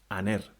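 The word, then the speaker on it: ἀνήρ: And an example of a smooth breathing would be aner, which means man, a man.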